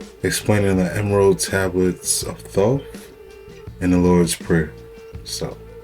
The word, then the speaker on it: Thoth: T-H-O-T-H. Thoth. Some people say Thoth or Thoth.